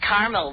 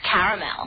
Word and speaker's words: caramel: Tina, actually, you said caramel when it's pronounced caramel.